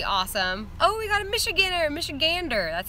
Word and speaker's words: Michigander: Oh, we got a Michigander.